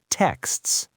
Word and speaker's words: texts: Texts. In fast speech, native speakers will often drop the T and just say text.